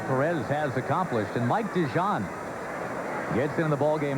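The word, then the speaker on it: DeJean: has accomplished and Mike dejon gets into the ball game now for Colorado spelled D e g EA n but pronounced like the mustard dejon first one slams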